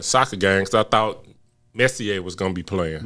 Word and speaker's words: Messi: And that's not how you say his name. He's a Spaniard. Dummy. Nigga, Messier played hockey. For real. That was a hockey player. It's Messi.